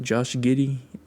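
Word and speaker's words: Josh Giddey: Josh Giddy.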